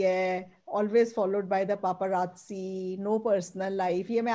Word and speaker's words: paparazzi: ha, paparazzi nahi hai, uski pronunciation hai paparazzi.